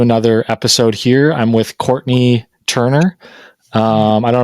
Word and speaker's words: Courtenay: Uh, it is pronounced Courtney, but it's spelled like Cortina.